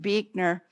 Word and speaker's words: Buechner: Frederick Buechner, who is spelled B-U-E-C-H, not B-E-E, but it's pronounced Buechner.